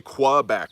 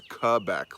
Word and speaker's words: Quebec: See, and you know, if you know somebody from Quebec, when you pronounce it, because most people say Quebec, but it's Quebec, like a K with a K.